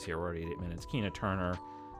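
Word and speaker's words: Keena Turner: we're already 88 Minutes Kina Turner rhymes with Tina Turner What's Love Got to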